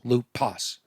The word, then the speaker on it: lupus: funny sounding word and it's lupus not s sis that that's adding two extra syllables to my routine that's taking